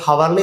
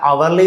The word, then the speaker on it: hourly: അപ്പൊ അവർലി എന്ന് പറയുമ്പോൾ ഉച്ചരിക്കുമ്പോൾ ഹവർലി എന്നല്ല അവർലി എന്നാണ് പറയുക.